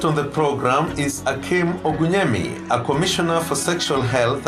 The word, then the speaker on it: Ogunyemi: So my name is Akeem Ogunyemi, or Ogunyemi, as we like to, I should say it properly, being of Nigerian descent.